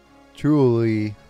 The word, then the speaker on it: Chiolui: Chiolui, that's how you pronounce it.